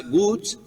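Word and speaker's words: Łódź: se encuentra en la ciudad de woods según la pronunciamos en polonia una ciudad que tuvo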